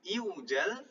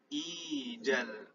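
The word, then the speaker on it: إيجال: Aslinya normalnya iujal. Ini berat diucapkan. Akhirnya huruf ilah waw itu tadi menyesuaikan dengan bunyi tanda kasroh pada hamzah wasol. Bukan iujal tapi ijal.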